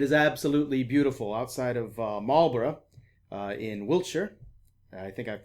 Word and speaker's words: Marlborough: it is it is absolutely beautiful outside of marlborough in wiltshire i think i've pronounced both of those fairly correctly just about well i didn't say marlboro for the americans in the audience i'm in